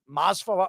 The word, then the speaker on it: Masvidal: And one of these guys, Murphy or Masvidal, whatever, how do you pronounce his name?